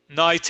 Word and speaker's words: knight: Any word, cualquier palabra que empieza aquí en inglés como knife, cuchillo o knight, que es caballero, no se pronuncia el que. Okay. Number two, knight es caballero, como igual que caballero.